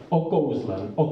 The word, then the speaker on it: okouzlen: is the declamation, because in Czech language we have the accents almost always on the first syllable, to say it simply. Okouzlen, there's the accent, but Dvořák sets into music as if the accent were on the second syllable of Kouzland, and seen by the aesthetics at the time, it was a wrong one, a wrong declamation, and Dvořák was also criticized for it.